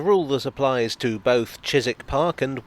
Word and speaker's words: Chiswick: that applies to both chiswick park and warwick avenue a silent w before the ick i don't think there's